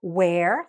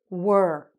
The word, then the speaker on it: were: when they say were it's not the word where like the question it's were okay say it with